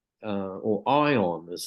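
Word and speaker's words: Aion: I was um young um someone gave me Eon uh or ion as it's pronounced um a-i-o-n and that was far too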